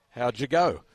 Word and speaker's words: Howgego: The number 14 for Meanjin River Murrays, Hayden, and his surname is spelled Howgego, and it's pronounced how'd you go, which is a great surname.